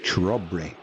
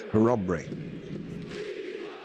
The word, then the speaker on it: Chrobry: Or in the UK you would say Chrobry. I can assure you it's not in Polish, it is Chrobry.